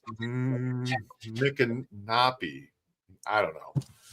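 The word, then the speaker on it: Micanopy: It's it's But it's funny because some people say my canopy like canopy my canopy or mkopy. So, but it's it's Nick and Nappy.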